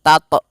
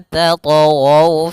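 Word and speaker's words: تَطْغَوْا: Hati-hati membacanya, jangan sampai membaca dengan adanya hamzah, jangan tato tapi dia alla tatghaw fil mizan, mengalir saja.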